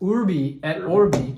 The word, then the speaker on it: Urbi et Orbi: Our topic for today is Urbi et, am I pronouncing that? Urbi et Orbi.